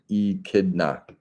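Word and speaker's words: echidna: here my friend and Brun says it is pronounced e kidna eida okay that's the Little Critter that's not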